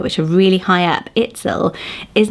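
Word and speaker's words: Itzel: about it a bit later the name is itsel i t z e l itsel really interesting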